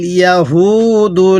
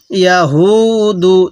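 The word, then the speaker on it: يهود: ইয়া জবর ইয়া, হা ওয়াও পেশ হু, দাল পেশ দু, ইয়া হু দু। তাহলে লাইসা তিল ইয়া হু দু। এই হাটা উচ্চারণের সময় মুখ দিয়ে হালকা আওয়াজ বের করব, তাহলে এই হাটা সহি উচ্চারণ হবে।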